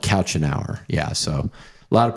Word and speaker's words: Couchenour: Couch an hour. Couch an hour is how you spell it.